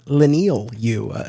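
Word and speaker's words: Leinil Yu: I just wanted to confirm with him the pronunciation of his artist on Superman Birthright mhm as it turns out it's lenal you according according to to uh uh to to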